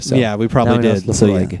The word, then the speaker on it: Laphroaig: Laphroaig. Laphroaig, and that is actually correct.